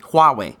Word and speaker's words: Huawei: arrested the CFO of Huawei qua way which is Hu awwe I I took two